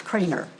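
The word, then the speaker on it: Kraner: no, it's not Kramer, it's Craner. K-R-A-N-E-R.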